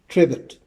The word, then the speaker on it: Trebott: My name is spelled T R E B O T and it's pronounced Trevet.